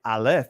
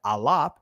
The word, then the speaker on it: aleph: alap the Israeli they call it the aleph but it's the alap set it up straight